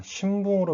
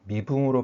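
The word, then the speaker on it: 身分: 신붕으로 발음하시면 안 되고 미붕으로 발음하셔야 됩니다.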